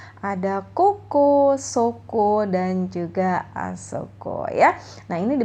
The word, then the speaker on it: あそこ: kata tunjuk tempat ada kukus Soko dan juga asoko ya Nah ini bacanya adalah Koko Soko dan juga asal code